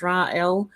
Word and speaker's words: Raguel: King Snurgle Gergelson said the G being silent in pronunciation, hence Ra-El.